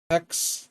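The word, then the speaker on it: Hax: Called Hex though it's spelled H A X.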